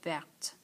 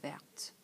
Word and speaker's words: verte: We've talked about this, that E's at the end is going to mean that we have to pronounce the final consonant.